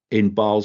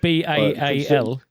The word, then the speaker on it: Basel: Did you say it was launched in Basel? Basel, Switzerland, yeah. Not Baal.